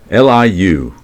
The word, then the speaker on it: Liu: Marjorie Liu or Lee. Is it Liu or Liu? Liu. I've always heard it said Marjorie Liu, but I've never really noticed there's an I in there.